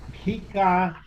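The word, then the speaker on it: Pikaia: now i know where i came from the pika it's spelled p-i-k-a-i-a this is the chordata in the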